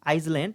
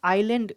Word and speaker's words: island: Lived on this आइसलैंड यानी कि आइसलैंड, जिसका प्रोनाउंसिएशन आइलैंड कहना चाहिए था।